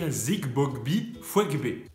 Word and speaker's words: Zigbogbi Fouegbe: Tout le secret de la prononciation de ce nom, c'est dans les G qui sautent comme ça.